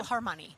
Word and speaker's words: Elbphilharmonie: Elbphilharmonie. That's the one. That's how I'm saying you yes.